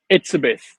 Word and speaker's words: Etsebeth: pronounce your last name for me. Etsebeth.